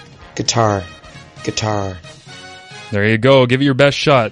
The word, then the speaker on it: Qatar: of the 2022 world cup here is the pronunciation for guitar guitar guitar there you go give it your best